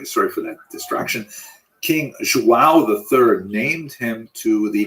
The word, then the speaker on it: João: I used to think it was Joao, like when the baby was born, the mother would say, Joao, it's a boy, but it's actually Joao.